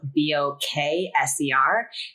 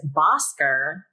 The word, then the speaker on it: Bokser: My husband and I were just talking about because my last name's Bokser, but it's spelled Bokser, and everybody says Bosker, or I've heard Boker. Like, people just don't read.